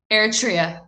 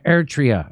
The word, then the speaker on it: Eritrea: you say the other country's name and ready eritrea ertria okay there you go oh god i'm so